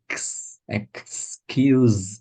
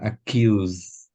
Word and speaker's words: excuse: excuse me yeah and accuse no because what you're doing there yeah if you leave out this cut you're saying accuse oh yeah X x x X excuse and accuses me it's excuse me it's very different meaning